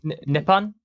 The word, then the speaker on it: Nippon: Ind and Napalm, Nippon, is that how you pronounce it? Nippon? Nippon, yeah.